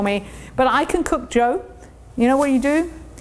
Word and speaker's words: diots: And Joe is spelt D-I-O-T-S, as most of my British friends would call them, Diots, but pronounced Joe.